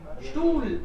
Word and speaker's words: Stuhl: Der Stuhl. स्टूल, H silent है ना, और Yes.